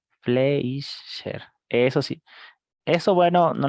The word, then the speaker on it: Fleischer: Se pronuncia Kaiser Fletcher, ¿no? Kaiser con K. Fleischer.